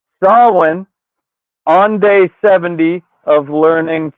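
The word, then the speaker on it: Samhain: They're trying to unleash Sam Hayne, which it's pronounced Sawin on day 70 of learning fucking uh Gaelic on this side. Could have known that one for a while. Um and Sawin is just a season.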